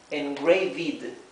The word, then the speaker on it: engraved: Si agregáramos una e más y una d, cambiaría la pronunciación, sería engraved, engraved, porque recuerden que la doble e se pronuncia i, ¿verdad?